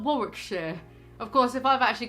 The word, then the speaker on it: Warwickshire: But before, I would have pronounced that as Warwickshire, not Warwickshire.